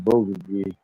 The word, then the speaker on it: bulgogi: we got some bulgogi. Most Korean people place. call it bulgogi.